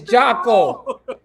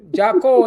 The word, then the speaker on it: Jocko: It is Jocko. You must say it correctly. It's Jocko. Jocko? Jocko. Jocko, like taco.